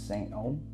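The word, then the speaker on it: St. EOM: Martin, also known as St. Omen, the E is silent.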